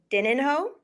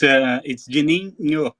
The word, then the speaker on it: Juninho: Is Dininho? Yeah, it's Juninho because it's in Portuguese. The N and H together, it does like a sound like nho.